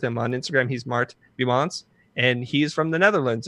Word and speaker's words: Biemans: Biemans. Biemans. So you have to pronounce the S. Yeah. Biemans.